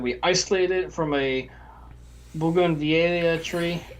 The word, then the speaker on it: bougainvillea: By native yeast, we mean that we isolated it from a bougainvillea tree. Bougainvillea tree. Bougainvillea. Bougainvillea. I know I've seen it. I'm pronouncing how my mother pronounced it when I was a kid.